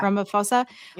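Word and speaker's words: Ramaphosa: and I am I pronouncing this right? Ramoposa. Yeah. Ramophosa.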